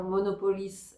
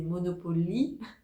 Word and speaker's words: Monopolis: Apparemment, le seul truc c'était la prononciation sur le nom parce qu'au lieu de dire Monopolis, elle disait Monopolie et je ne sais pas pourquoi elle est restée là-dessus mais c'était vraiment pas mal.